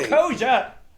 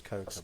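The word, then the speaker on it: Koca: He's like, I'm not Koja!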